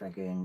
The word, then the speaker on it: Rangoon: And I don't know who posted this, that they've been to Rangoon, because Rangoon rhymes with June.